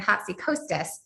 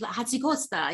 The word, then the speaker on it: Hatzikotas: Wow, that's so funny because I've been saying Hatzikostas for. That's actually even better. It's Hatzikotas. You're giving it the Mediterranean flair.